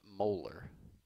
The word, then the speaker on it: molar: M and it's pronounced molar pronounced molar just like the tooth so once again let's